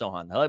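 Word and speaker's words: Sochan: uh Jeremy Sohan Sohan Sohan there we go it is pronounced Sohan Mark already knew dude sounds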